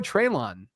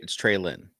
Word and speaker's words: Treylon: Maybe your boy Treylon gets some work this week. It's Trey Lynn.